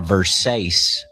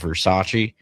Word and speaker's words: Versace: that she got a Versace dress. We tried to explain to her that it was actually pronounced Versace, but uh she didn't listen.